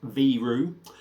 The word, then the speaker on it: Viru: going and it's from viru so if you can see the bottle look at that beautiful 300 mil uh v-i-r-u but apparently it's pronounced v-roo uh this is a